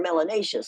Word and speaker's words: melanous: you have more melon you're melanous which rhymes with gracious and spacious and efficacious if you have a